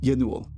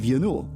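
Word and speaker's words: Ianuul: Have you heard the story of Yanul? No, I've never heard of Yanul. I bet it's spelled really crazy, though.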